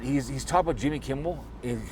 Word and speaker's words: Kimmel: He's He's talking about Jimmy Kimble and calling him Bimble. There's no B in there.